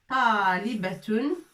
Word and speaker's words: طالبة: طالبة. Avec alif pour prolonger. طالبة. طالبة. Qu'est-ce que ça veut dire طالبة? C'est une étudiante. لطيفة, c'est le prénom d'une fille. طالبة, c'est une étudiante.